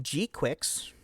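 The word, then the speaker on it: GQuuuuuuX: Gundam G-Quix. Yes, that is how you pronounce it.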